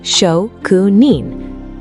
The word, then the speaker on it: shokunin: Shokunin, pronounced Shokunin, written with the character for workmanship or craft, shoku, and the character for person, nin.